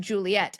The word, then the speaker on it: Juliet: And then Juliet has two T's because French speakers would not pronounce the T unless there were two.